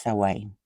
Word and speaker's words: Samhain: I think this book, that is spelt Samhain, is pronounced Samhain, I think.